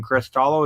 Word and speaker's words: CRYSTALLO: Well, how's CRYSTALLO doing, or what can you tell us about the game CRYSTALLO?